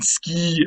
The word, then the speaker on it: sky: borrowed into english and we pronounced it sky today of course it would have been ski originally in like middle english um before the